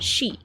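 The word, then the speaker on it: 四: The number four is pronounced she, the same as the word for death and is considered very unlucky.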